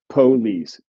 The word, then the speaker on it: police: In some southern varieties, at the very least, you used to get cement, police, Detroit, where the stress was on the first syllable.